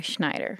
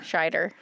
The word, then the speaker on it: Scheider: You just love Roy Schneider, and that's fair. Scheider. Sorry, Roy Scheider, and that's fair. Good thing you're here to pronounce the names correctly. Scheider. I just don't want him associated with like Rob Schneider.